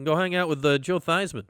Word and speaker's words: Theismann: You can go hang out with Joe Theismann, which I've heard rhymes with Heisman.